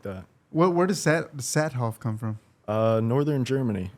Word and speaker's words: Saathoff: I'm excited to bring my guests today Stone satoff nailed the name pronunciation by the way dude speaking of your